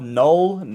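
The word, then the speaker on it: Knull: over the god himself, Null, Cano, Right, that's how you whatever. pronounce his name? No. I'm going with Null. K-N-U-L-L. I'm going with Null. It's German. It means zero.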